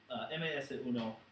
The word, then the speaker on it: MS-1: no or ms1 rather if we're pronouncing it in Spanish it would be mas a creeper crawls under the sea mas uno vs.